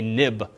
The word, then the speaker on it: xib: In viewcontroller.xib, we have what's called a nib file. Even though it's xib, it's historically pronounced nib, being next step interface builder.